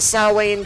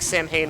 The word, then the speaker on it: Samhain: these samhain ghosts uh i call them the sowway and ghost because that's really how you say the word but i think samhain was like the colloquial uh way to pronounce it and they're done that